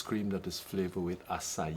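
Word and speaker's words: açaí: that is flavored with acai. Acai, right. It's spelled ACAI, and the Portuguese and the Latin Americans pronounce the I as E, acai, right?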